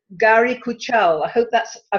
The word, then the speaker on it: Guari Kuchhal: the great pleasure of interviewing a lady called Gary Kajol I hope that's I pronounced your name right yeah good now Gary